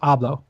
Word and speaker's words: hablo: You really pronounced the hard H on there. Huh? You're really pronouncing the hard H on there. Really? Is that a good thing or a bad thing? It's pronounced hablo. Very soft H. Soft H.